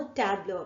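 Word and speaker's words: tableaux: பட் ஆனா அதை pronounce பண்ணும் போது நம்ம டேப்லோ அப்படின்னு சொல்லிட்டு தான் சொல்லணும். ஸோ இதுக்கு ஒரு எக்ஸாம்பிள் பார்க்கலாம்.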